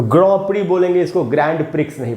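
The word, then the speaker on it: Grand Prix: इसका उच्चारण जान के आपको हैरानी होगी, इसका उच्चारण होता है ग्रॉ प्री इसको दोस्तों ग्रैंड प्रिक्स नहीं पढ़ना है, इसको पढ़ना है ग्रॉ प्री।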